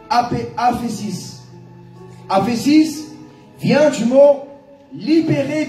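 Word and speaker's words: ἄφεσις: En grec, pardon est prononcé aphésis.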